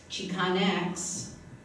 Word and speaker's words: Chicanx: But the latest term, Chicanx, is an attempt to be more inclusive. However, my tongue, and I'm not a poet, is having difficulty with the word that rhymes with Kleenex.